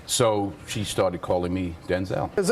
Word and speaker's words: Denzel: true that your mom it's really Denzel not Denzelle? Uh Denzel. Denzel.